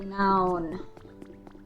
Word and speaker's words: Unown: Unknown or unown, but unknown apparently is the the correct pronunciation.